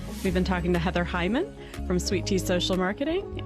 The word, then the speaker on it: Heuman: you so yeah so my last name is super weird so it's Heather Hyman but it's spelled h-e-u-m-a-n and on LinkedIn on